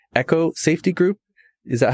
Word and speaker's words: ECCO: company called, I hope I'm pronouncing it correctly, ECCO Safety Group. Is that how you say it? You got it right. Great. Yep. ECCO Safety Group. Yeah. ECCO.